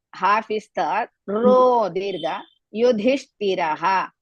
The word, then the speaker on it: Yudhishthiraha: Yudhishthiraha. You is also Hrisva. Dhi, Mahaprana. Hrisva. Shti, again Mahaprana. Yudhishthiraha. You all know that in the end, if the Visarga comes, you have to pronounce.